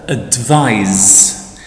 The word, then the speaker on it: advise: If it's written with an S, so it's spelled with an S, it's pronounced with Z, advise, and that's the verb.